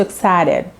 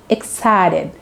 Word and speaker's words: excited: They'll be so excited. They will, they say they'll হচ্ছে they will এর contraction form. They'll be so excited নয়, they say excited. এই ঠিটাকে তোমাকে ডি এর মতো উচ্চারণ করতে হবে।